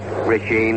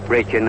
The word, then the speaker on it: Brecheen: Spud Krist, and Krist was later relieved by Brecheen, or Brecheen, however he pronounces it. It's a little difficult for me because I've been calling him Brecheen all season, but I believe Brecheen is correct.